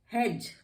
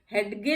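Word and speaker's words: hedge: हेज, अब इसको हेज पढ़े, हेडगे नहीं पढ़ते हैं, हेज पढ़ते हैं, क्योंकि इसमें भी जी से पहले डी है और ये साइलेंट है।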